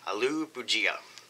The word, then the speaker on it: Aloo Bhujia: this is aloo pujia i had to google that to find out how to pronounce that but there was 23 upvotes and zero down votes on the way that i said it aloo boujia so i do the